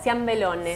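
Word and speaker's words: ciambellone: Ciambelone.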